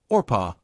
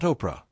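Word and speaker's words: Orpah: Yes, Orpa, not Oprah. The name would later be mispronounced so often that she simply embraced Oprah as her own.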